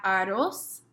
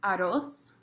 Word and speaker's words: arroz: Next we have arroz. This is a time where if you are so fortunate as to be able to roll your R's, this is a time when you can do that and be super impressive to everyone.